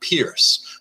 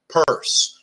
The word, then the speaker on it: Peirce: Charles Sanders purse yes it is pronounced purse like someone stole my purse or I hid my makeup in my purse right it's not Pierce so the first Telltale